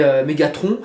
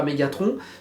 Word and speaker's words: Megatron: Et Megatron, je ne dirais pas Megatron, je dirais Megatron.